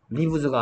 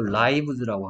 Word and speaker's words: lives: 여기를 lives라고 읽으면 안 되죠. 얘를 lives라고 읽어야 되는 이유는 이게 삶이라는 단어의 복수형이죠. life의 복수형이죠. 그래서 얘는 리브즈가 아니고 라이브즈라고 하는 거.